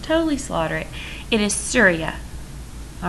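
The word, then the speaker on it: Surya: i would just totally slaughter it it is syria all right so these were their gods so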